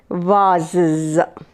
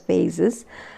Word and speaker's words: vases: So glasses, vases. It's not vases. You can also pronounce it as vases, but the correct pronounce is vases, vases, vase, vases. Right?